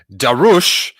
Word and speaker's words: Darush: ignite the green justin darush says my last name is pronounced da rush but then follows it